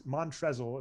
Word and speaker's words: Montrezl: unknown in the first name it's mantras it's montrezl is how it's my bad right yeah but